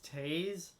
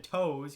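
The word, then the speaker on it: Toews: You'd pronounce Jonathan Taves Taze? I mean, that's close. That's pretty close. It's better than saying Jonathan Toes, because it's definitely not that. Yeah, but Taze is close. Not perfect.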